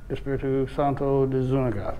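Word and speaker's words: Espíritu Santo de Zúñiga: What's the proper pronunciation? Mission Espiritu Santo de Zuniga. Espiritu Santo de Zuniga.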